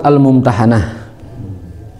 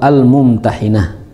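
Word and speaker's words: Al-Mumtahanah: Nah, surah baru sekarang surah almumtahanah. Ada juga yang membacanya surah Al-Mumtahinah ya. Nama surat ini ada dua, ada almumtahanah dengan fathah, ada almumtahinah dengan kasrah.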